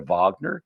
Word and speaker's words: Wagner: Did you know most of the profits that are made over in Africa go to a group called the Wagner Group, pronounced over the Vagner?